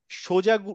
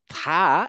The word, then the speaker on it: ث: সোজাটা হচ্ছে এইটা এটা এটার উচ্চারণ হচ্ছে থা থা হ্যাঁ এখন এই থা টা আমরা বাংলাদেশে যখন শিখেছিলাম বাংলাদেশে যারা শিখেছো লাবনী ফুফু তুমি বলতো এটা কি ছিল কি পড়তো আগে বাংলাদেশে সা হ্যাঁ এই তিন সারে